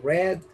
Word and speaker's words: read: coat where sería worn read se escribe igual pero suena red drive crimen conducido de